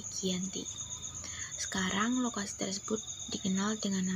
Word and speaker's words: Giyanti: Giyanti yaitu Desa Janti dalam pelafalan Belanda disebut baik Janti dan secara pelafalannya disebut sebagai Giyanti sekarang lokasi tersebut dikenal